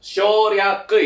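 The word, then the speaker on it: 省略: Cara bacanya itu adalah shoryaku ya.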